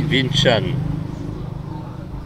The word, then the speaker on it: Vinh Trang: Alors ça s'écrit Vinh Trang et en fait ça se dit Vinh Chan.